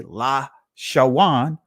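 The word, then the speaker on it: לשון: And if you hear someone say La Shawan, Quadash, guess what? That is an actual ancient pronunciation, correct pronunciation of the word. If they're pronouncing it with the wa, that's here, the wa, not va, wa, right?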